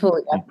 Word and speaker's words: Julia: Julia, but it's pronounced Julia.